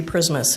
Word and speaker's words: Prismus: my name is prismus it rhymes with Christmas so uh I live